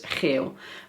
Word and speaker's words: geel: talk more smoothly it's GEIL versus GEEl. Do you hear a difference? And can you pronounce the difference yourself? Well apparently lots of students have problems because when they want to say GEEL - which is yellow - they say GEIL (horny).